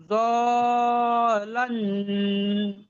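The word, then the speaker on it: ضالًّا: জলান, জল, লামে তো তাসদিদ আছে, লাম দুবার উচ্চারণ হবে। দালান ফাহাদা হুম, ওয়া ওয়াজাদাকা ইলান ফাআগনা।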